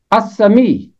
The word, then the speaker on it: السمیع: آواز خاموش رہی۔ پھر ہے السمیع، یہاں بھی لام کی آواز خاموش ہے۔ الشکور، یہاں بھی لام